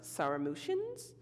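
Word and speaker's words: Sarmatians: I want to say it's pronounced Saramutians. Their graves were originally classified as being that of a group of warrior men.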